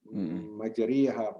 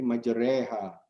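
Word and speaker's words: مجراها: Nah, nanti ada lagi di surat Hud itu memiringkan kasroh, majreha. Ya, itu bacanya menjadi jadi bukan majriha, jadi majreha.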